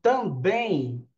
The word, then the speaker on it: também: Quando eu falo também, eu não pronuncio a letra M, eu pronuncio o M com o som de I.